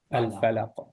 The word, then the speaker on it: الفلق: When stopping at a word or at the end of an ayah where there is an auditory sukoon and the word ends with a bouncing letter, either a qaf, ba, da, jim, or dal, that letter is pronounced with a bouncing sound having 2 syllables.